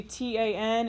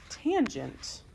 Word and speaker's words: tangent: Okay, and then lastly, on your calculator, you'll see T-A-N. It's not tan. It is tangent.